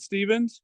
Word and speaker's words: Stephens: show tonight we're here with us is Dan Stevens you pronounce it Stevens yeah that's exactly right and he is with